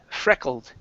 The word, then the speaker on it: freckled: This will be a short e sound instead of freckled. It's freckled.